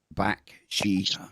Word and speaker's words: Bakshi: How do you pronounce General's last name? Bakshi. The same way it's spelled.